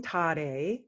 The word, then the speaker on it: Tare: And I will be using the Tibetan pronunciation, not the Sanskrit pronunciation. So when we say the mantra, it's actually Om Tare, Tu Tare, Tu Tara, Soha. Very simple. And so the Tara becomes Tare in the mantra.